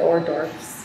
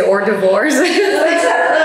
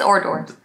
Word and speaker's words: hors d'oeuvres: The hors d'oeuvres. I can't pronounce it. Or divorce. I used to say or divorce.